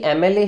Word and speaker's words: MLA: जब आप MLA को प्रोनाउंस करते हैं तो स्टार्टिंग में आपको साउंड मिलती है एम की, ठीक है, अ की साउंड मिली, तो MLA के लिए आप क्या लगाएंगे, एन MLA, ऐसे ही MBA के